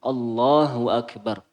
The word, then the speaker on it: Allahu Akbar: yang dirahmati oleh Allah cara bacanya seperti itu Allahu Akbar bukan Allah tapi Allah Allahu Akbar setelah itu yang perlu